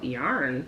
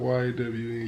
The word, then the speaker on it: yawn: You know, yarn. Yawn? Oh, is it yawn or yarn? It's yawn? It's whatever you say. It's spelled Y-A-W-N, yawn.